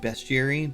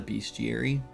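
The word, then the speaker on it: bestiary: It's why are you saying besterry? But that is exactly what it's called. It is not a beastiary. It is a besterry.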